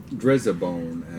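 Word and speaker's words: Driza-Bone: So that's how you say it. Drizzabone as Dry as a bone.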